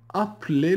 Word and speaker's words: appelez: Appelez le chat. Ne prononcez pas le E avant le L.